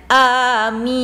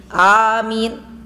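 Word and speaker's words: آمين: Kemudian ketika amin itu dibaca amin lima. Jangan amin. Eh, dua ketukan. Amin. Amin itu lima ketukan.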